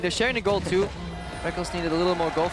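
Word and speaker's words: Rekkles: I still want to call him Reckles, but I've just gotten so used to calling him Reckless because he says so.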